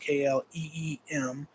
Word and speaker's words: Kleem: It's spelled KLEEM or KLIM, but pronounced KLEEM.